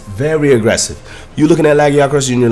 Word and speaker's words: Lagiacrus: Next up, let's talk about Lagiacrus. That's how you say it. That's how Eric said it in the quest, at least.